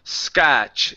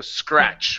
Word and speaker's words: scratch: that skur in there you're saying scotch instead of skur so scratch one more time uh